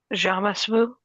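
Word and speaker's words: jamais vu: Um, does anyone else experience jams vu or is it jam? How do you say it? Did I say it right? Jamas vu.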